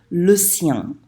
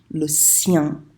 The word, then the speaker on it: le sien: on Skype, I said, it rhymes with rien. So you know how to say rien, just make sure you make it rhyme with that, okay?